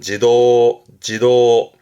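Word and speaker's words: 児童: 발음은 지도, 음은 도죠.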